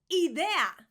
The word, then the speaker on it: idea: Idea, idea, not idea, idea, idea. So the I in Spanish is an I. I know, rather confusing. The I is actually E. So, idea.